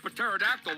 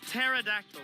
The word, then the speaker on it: pterodactyl: That "puh"-terodactyl won't know what hit him! It's "pterodactyl", man. Actually, nobody knows how to